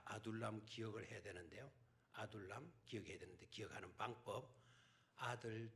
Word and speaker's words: 아둘람: 남이 듣기 발음 안됩니다 아 음 아들 2 남 아둘람 에 아둘람 이렇게 애국이